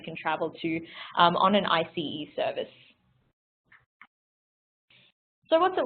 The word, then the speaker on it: ICE: we don't pronounce it as o train actually pronounce it as IC e particularly because the IC e stands for intercity